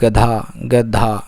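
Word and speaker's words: गधा: சரி, அடுத்து வந்து கழுதைக்கு வந்து என்ன சொல்லுவாங்க அப்படின்னா வந்து கதா. சரிங்களா? இதில் நீங்கள் பார்த்தீங்கன்னா தமிழ் வார்த்தைக்கும் நான் ப்ரொனவுன்ஸ் பண்ணுற வார்த்தைக்கும் வித்தியாசங்கள் நிறைய வரும். இங்கே கதா அப்படின்னு வரும், ஆனால் ப்ரொனவுன்சியேஷன் வந்து கதா.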